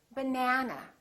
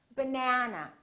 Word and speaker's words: banana: That means this vowel is going to be much longer. Repeat, banana, banana. So the a is going to be prolonged.